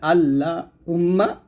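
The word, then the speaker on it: اللهم: ডানে যখন জবর থাকবে যখন পেশ থাকবে তখন এই লামটা মোটা করতে হবে যেমন এখানে আছে আল্লাহুম্মা মানে আমরা এরকম বলি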